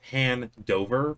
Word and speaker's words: Handover: handover hand over what well it's pronounced hand dover but most people just push it together because he doesn't have any spacing in the last name uh lucas is drinking